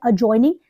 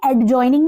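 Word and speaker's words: adjoining: है side by side अ जॉइनिंग देखिए एड जॉइनिंग नहीं है अ जॉइनिंग डी को साइलेंट कर देंगे इसमें मोइड रुष ये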